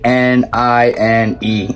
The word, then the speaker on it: Knine: It's spelled with a K. So, K N I N E, Nine.